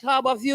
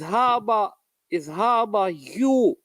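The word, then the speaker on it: Harbour View: It's not Harbor View, you know. People get the name wrong. It's Harbor View.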